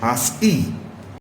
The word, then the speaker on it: ASCII: The ASCII, ASCII, pronounced as ASCII, it is most widely used code for data communication.